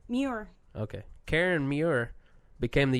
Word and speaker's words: Muir: I don't know how to pronounce that last name. Muir.